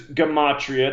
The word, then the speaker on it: Gematria: So the subject is Gematria. That's the proper way to say the word.